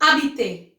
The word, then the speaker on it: habiter: Now let's move to habiter. Habiter, H is silent.